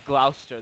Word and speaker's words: Gloucester: here Gloucester County rebellion I think that's Glouster that's how they pronounce it what would that